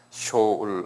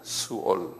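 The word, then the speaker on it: שאול: 히브리 말로 쇼울이라고 그래서 쇼 이렇게 쇼울 한번 발음해 보실래요? 쇼울. 쇼울. 그 한국말로는 이걸 수올이라고 그랬나요? 수올. 예. 요렇게 이제 했어요.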